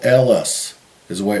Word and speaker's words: Helles: not it's not pronounced helis it's l Ellis is the way it's pronounced according to the internet that's the way you pronounce it in German Ellis uh and and